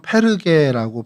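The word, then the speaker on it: Πέργη: 이 버가라는 곳은 이제 헬라어로는 페르게라고 발음을 합니다. 그래서 한글 성경으로 이렇게 옮겨 적을 때 한자어에 익숙하다 보니까 이제 버가 이렇게 옮겨 적게 됐는데 이들 원래 성경의 언어는 페르게 뭐 이렇게 하고 또 현재 지금 터키에서는 튀르키예에서는 파르하라고 발음하기도 합니다.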